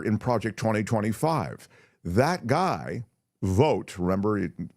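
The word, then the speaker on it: Vought: Project 2025 that guy vote remember v u g HT I think he pronounces it Vote or vote he has real control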